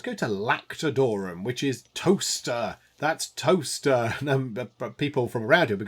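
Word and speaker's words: Towcester: world might be going, there's a place called Toaster. It's not spelt toaster like a thing you would brown bread in. It's spelt with a C.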